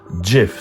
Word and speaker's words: GIF: questions of the Internet it's pronounced GIF and not GIF end of story all right it's pronounced JF some people even saying drive but no it is JF so we can look